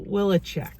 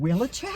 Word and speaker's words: Wileczek: for qvc for a number of years willicheck i got it right okay i'm so always so afraid i'm gonna butcher the name my name is so hard i